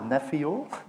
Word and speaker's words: Nephio: present uh neph so we pronounce it neio I don't know who